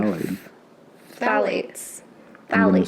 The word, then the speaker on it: phthalates: The pH is silent. That's what I heard. Phthalates? Phthalates. Yeah. I thought it said phthalates. You have? You might be right. I don't know. Phthalates. I definitely think the P is silent. It's like pterodactyl.